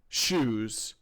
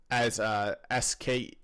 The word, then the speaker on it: shews: So if they appear different, experience, unfortunately, shoes. Yeah. So this word SHEWS is kind of a weird word, and I mispronounced it as SKUs, but we can see